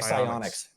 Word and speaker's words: Psyonix: It was ran by, I can't remember the company's name or I can't pronounce it right that makes the game, but it's like Psyonix.